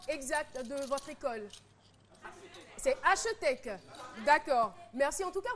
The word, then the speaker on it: HETC: Est-ce que vous pouvez me donner la prononciation exacte de votre école? C'est HETC.